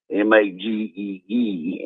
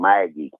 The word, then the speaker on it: Magee: And Alabama over the years has had some players from Magee, Mississippi, Magee instead of, it's spelled Maggie, but it's Magee.